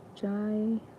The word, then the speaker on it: Jai: Jai. Now I'm learning so much. Like, oh my god. How do I pronounce this? Jive without the V.